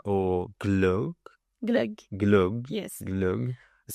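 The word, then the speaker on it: glögg: impossible so sure next I'm sure I will pronounce this again wrong it's Cava or Glo glug glug yes glug it sounds I know sounds good it's like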